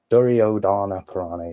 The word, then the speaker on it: Duryodhana Purana: Duryodhana Purana, yeah, that's how you say it.